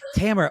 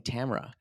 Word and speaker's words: Tamara: I've you know what they said it wrong on uh this on uh Mass singer they kept saying Tamara Oh No It's Tamara I mean yeah yeah